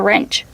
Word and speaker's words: wrench: What about the wrench? Oh yeah, that's a little wrench right there. Remember the word wrench. The W is silent. So it's pronounced with the R sound first.